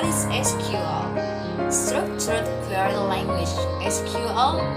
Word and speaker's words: SQL: SQL, pronounced as SQL or sometimes as SQL, is actually the standard language for dealing with relational database.